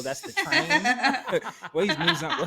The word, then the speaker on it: Muzan: Well, he's Muzan. How do you pronounce his name? Muzan.